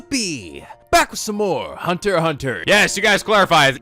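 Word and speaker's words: Hunter × Hunter: back with some more Hunter hunter yes you guys clarified the X in Hunter x Hunter is actually silent so it's just pronounced Hunter hunter that's how you know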